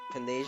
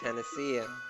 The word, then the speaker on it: panacea: you on I mean it's not pania it's Panacea but really stuck if